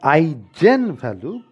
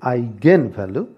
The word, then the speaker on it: eigenvalue: of all the pronunciation it is not i gen value but it is i gain value because it's a german word and in the german language the letter g is used to denote the sound of gau in fact they call